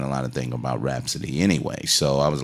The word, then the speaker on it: Rapsody: How you say it? Rapsody? Rapsody. Yeah. Rapsody. Yeah, Rapsody. Not with the H, but rap. Right. Exactly. Rapsody.